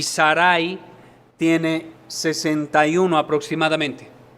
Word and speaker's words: Sarai: y en ese momento se llama Saray o Sarai creo que la pronunciación correcta es Sarai en el capítulo 11